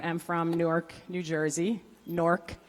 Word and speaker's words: Newark: Nork, for those of us from the area.